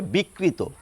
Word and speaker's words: বিকৃত: তাহলে কি হয়ে গেল স্বাভাবিক প্রবণতা অনুযায়ী যদি উচ্চারণ করি তাহলে এই শব্দটির উচ্চারণ হবে বিকৃত আমি যদি লিখে দেখাই